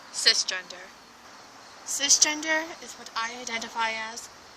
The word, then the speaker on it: cisgender: It is pronounced cisgender, not size, or at least that I know of. I could be wrong.